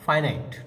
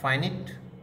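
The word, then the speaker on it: finite: একটা হলো ফাইনাইট verb, এই উচ্চারণটা ফাইনাইট, নট ফাইনিট আর ফিনাইট, এটা মেইন এক্স্যাক্ট প্রোনাউন্সিয়েশন হবে ফাইনাইট, ফাইনাইট ভার্ব।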